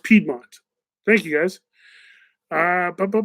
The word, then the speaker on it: Piedmont: people because they're real Piedmont Piedmont Piedmont it's pronounced Piedmont thank you guys bah bah bah Piedmont where's